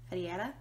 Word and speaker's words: Ferreira: or five weeks is the becca x barbie ferreira that's how you pronounce her last name uh if you don't